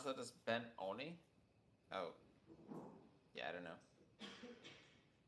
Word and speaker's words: Benoni: Is to pronounce that as Ben-Oni? Oh. Yeah, I don't know. I just say Benoni. It's like, I don't know, it rhymes with macaroni or something, I don't know. It looks kind of Italian.